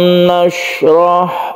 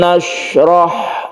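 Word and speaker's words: نشرح: Bismillahir ahmanirrahim Alam Nasroh laka shodrok yang perlu diperhatikan di ayat 1 ini yaitu huruf syin yang titik tiga ini cara membacanya itu di rongga mulut di penuhkan suaranya alam Nas Nasroh Nas Nasroh kemudian mim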